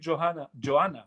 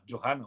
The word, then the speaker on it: Johanna: Thank you, Johanna. Joanna. Oh my God, Joanna. You don't pronounce the H's.